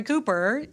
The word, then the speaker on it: Cooper: And the thing is, I mean, Roy Cooper, he that's how he says his name. He doesn't say, "By the way, I'm Governor Cupper."